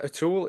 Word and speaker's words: O'Toole: So, Atul is a Did I pronounce that correctly?